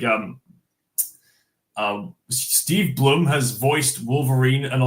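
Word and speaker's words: Steve Blum: Um I'm pretty sure it's pronounced Steve Bloom. Yeah, Steve Bloom.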